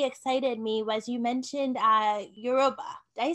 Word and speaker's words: Yoruba: Another thing that you said that really excited me was you mentioned Yoruba. Did I say it right? Yeah. Yes, Yoruba.